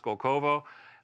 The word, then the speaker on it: Skolkovo: They have that complex, I guess, I forget exactly where it is, but I believe it's pronounced Skolkovo.